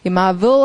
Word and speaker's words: marvel: marvelous이 marvel 할 때 v 발음 여러분 잘해야 돼요. 아니 대충하면은 대리석인 줄 알아요. 대리석이 영어로 marble이거든요.